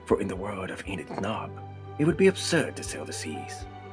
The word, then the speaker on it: Enid Shhnaarp: What a bizarre world she lives in, this Enit Narp. Oh, you see her last name is spelled S H H N A A R P. One does not pronounce this, for the S is silent.